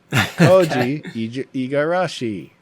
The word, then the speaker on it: Koji Igarashi: Oh, Koji Igarashi. I'm gonna edit that back in earlier. Koji Eigarashi.